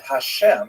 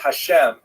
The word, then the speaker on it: Hashem: And the word hashem of course is pronounced with the letter H.